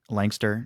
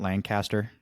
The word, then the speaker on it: Lancaster: So, you pronounce the city Lankster, not Lancaster? It's all however you want to say it, man. I'm Lankister, Lancaster. I call it Lancaster. Like it's just the way I've said it my entire life.